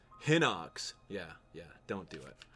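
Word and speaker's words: Hinox: be really insane you can probably take out heox probably take out three heox uh you'll be all set hip doll it's pronounce hoox yeah yeah don't do it all right here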